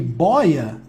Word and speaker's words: boia: O detalhe é que o timbre não mudou não, tá, pessoal? Eu tenho aqui boia, tá sem acento, mas não significa que a pronúncia seja boia não, tá? Isso aqui é só uma uniformização da lógica de acentuação. O timbre aberto continua o mesmo, tá?